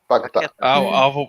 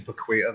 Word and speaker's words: Paquetá: Paquetá. I've been saying Paqueta this whole time, mate.